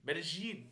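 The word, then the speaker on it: Medellín: in colia colia medin medine is actually how they pronounce it medine fun fact for people if you don't know uh medine is actually spelled m e d e l i n but every Colombian video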